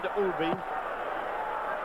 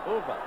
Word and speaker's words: Uwe: As Don's new friend, Uwe. Uwe, it's not Uwe, it's E-U-W-E. How you pronounce it? It's Uwe. See there? Uwe.